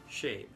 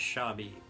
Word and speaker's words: Shabe: people pronounce it as shabi which never has made any sense to me because there is a word that is s h a d e that is pronounced shade if you turned the